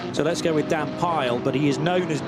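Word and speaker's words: Pijl: The I and the J I'm always told by Dutch friends is pronounced with a Y in English. So let's go with Dan Pile, but he is known as Dan Arrow.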